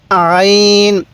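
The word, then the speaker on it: عين: হ্যাঁ এই হরফটির উচ্চারণ আইন এটা উচ্চারণের সময় গলার মধ্যে হালকা চাপ দিবেন তাহলে এই উচ্চারণটা সহি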